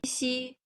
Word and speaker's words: 西: And the airflow, when we are pronouncing qi, there's a strong airflow. Xi, a little airflow, while ji, no airflow at all.